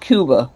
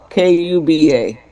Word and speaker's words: Cuba: Is it pronounced Cuba or Kuba? All right, AI says it's Cub Cuba. K U B-a Kuba is correct, but in English it is referred to as Cuba.